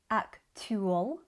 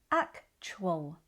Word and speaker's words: actual: We don't say actwol. We say actual.